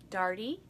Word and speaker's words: Daugherty: my last name so this is how I teach them dartie party party Daugherty is it it's spelled